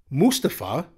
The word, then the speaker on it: Mustafa: night on Friday night Mustafa which is the way you're supposed to pronounce it Ali main evented the